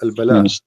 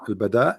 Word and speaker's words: البداء: or al-bala? What? Sorry. I'm trying to understand what you are saying. Al-bala or al-bada? Well, bada. Al-bada.